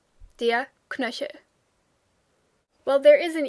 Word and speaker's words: Knöchel: Most people in everyday speech will kind of skip the E, so the word kind of sounds more like Knöchel.